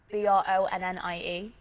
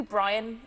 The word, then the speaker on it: Bronnie: Everyone always gets my name wrong. Like, someone called me Brian the other day, and I'm like, how the hell does Bronnie sound like Brian? And all the Americans are like Ronnie.